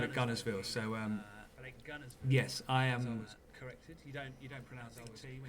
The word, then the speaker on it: Guntersville: was corrected you don't you don't pronounce the T when you say you got to do in the right accent and just call up Guntersville so yes I am